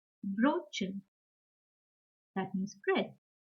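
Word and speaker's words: Brötchen: O umlaut is similar to yo, yo, with rounded lips. For example, Brotchen, Brotchen.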